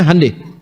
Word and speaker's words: Hyundai: Hyundai itu dibacanya hande, ya.